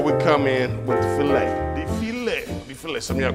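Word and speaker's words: filé: It's filet. But I mean, I pronounced it foul for a long time too, so I can educate it, you know what I'm saying?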